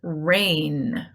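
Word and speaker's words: reign: Gnash, new, gnarl, and rain. Rain. That one actually sounds like rain, like lluvia, right? That falls from the sky. But it's spelled completely differently. That rain is R-A-I-N. This one is R-E-I-G-N.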